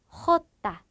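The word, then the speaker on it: jota: 호따, 거친 히읗 소리.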